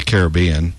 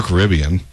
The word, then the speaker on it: Caribbean: A movie that's been running on satellite recently is one of the Pirates of the Caribbean, or Caribbean, whichever you pronounce, series in which the characters, in this movie, the characters are trying to find the Fountain of Youth.